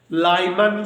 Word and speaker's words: Lyman: Number 1, लाइमन series, हम spelling बोलेंगे LYMAN, लाइमन series.